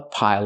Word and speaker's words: pile: A pile of clothes. Again, this is a pile of clothes. Pronunciation, not pile, but pile. Use the dark L at the end. It changes the vowel.